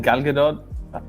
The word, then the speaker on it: Gal Gadot: How do you pronounce Wonder Woman's name? Is it Gal Gadot?